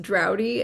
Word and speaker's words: Draude: But it's actually because my last name is pronounced Drowdy, and so a lot of times call signs are based on your name.